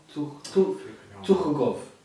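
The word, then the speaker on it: Tukhugov: I'm trying to say it like in the actual in the actual way that they would pronounce it, like Habib would pronounce it. The Americans say Thukogov.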